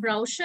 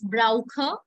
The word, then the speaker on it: brauche: Entschuldigung, ich brauche, not brauche, it's brauche. Always remember when you have CH in any word, try to read it with the kha pronunciation first.